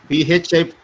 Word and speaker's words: phi: PHI pi. Okay sir. This pronunciation. Okay. Not pi. Phi.